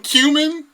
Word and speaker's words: cumin: sprinkle some goddamn ground coming on that motherfucker, and just display that. You say coming? Like, don't you mean cumin? No, that's how you pronounce that. You said coming.